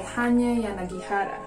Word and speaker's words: Hanya Yanagihara: Another Shopee purchase is A Little Life by Hanya Yanagihara. I finally pronounced that correctly.